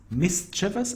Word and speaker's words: mischievous: Malaysia lockable model then we have got mischievous mischievous and this is how I pronounce it mischievous means what causing causing trouble